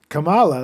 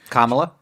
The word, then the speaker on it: Kamala: Well, she got Kamala. That's how you say it, right? Mm-hmm. Kamala.